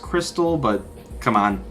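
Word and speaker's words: Xtal: the beginning starting with exall which is apparently supposed to be pronounced Crystal but come on it's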